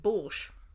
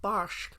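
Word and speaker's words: barszcz: fatal error have i you've called it borsch it's going to be pronounced bosch oh fair enough bashed because borscht is the russian oh well that's me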